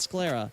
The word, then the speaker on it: sclera: By the way, I learned it is in fact pronounced sclera, and I'm like, why the hell is it called sclera? Sclera is so much better. Like, why do we pronounce the C for this?